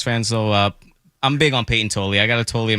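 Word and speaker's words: Payton Tolle: So they called up the number 2 prospect, Peyton Tolley.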